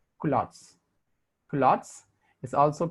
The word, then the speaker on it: culottes: is called as if somebody me prongs q lots actual pronunciation is culottes culottes is also called